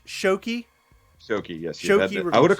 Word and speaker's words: Shoky: yeah but guys like and subscribe so it's pronounced shoki shoki yes I would have corrected you a long time ago okay I feel like he did shocky I know I said I think when you